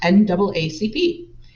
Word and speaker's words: NAACP: advancement of colored people or the naacp pronounced naacp it remains one of